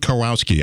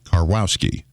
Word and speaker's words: Karwowski: Gerald Karwowski. I was having a pronunciation session with him the other day. And he said, it's 3 syllables, Karwowski.